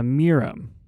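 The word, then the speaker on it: Mirym: Uh, Mirum, and it's spelled M I R Y M.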